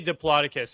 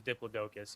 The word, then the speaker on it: Diplodocus: And you you you you all have the contrasting pronunciations of it. You're a I say Dloaticus. Yeah. He says Diplodocus.